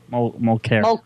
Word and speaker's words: Mulcair: It's Montclair, right? Mulcair. Mulcair. Mulcair. I get the L mixed up.